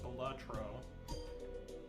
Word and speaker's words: Balatro: It's actually pronounced batro.